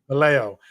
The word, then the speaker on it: Vallejo: I messed that one up. Vallejo. I tried to throw an extra syllable in there.